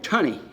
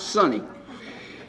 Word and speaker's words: Sunny: He called me Tunny. He couldn't pronounce Sunny.